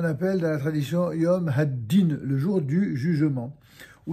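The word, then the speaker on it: הדין: Haddin. Haddin. He, Dalet, Yud, Nun. En français, ça s'écrit H-A-D-I-N.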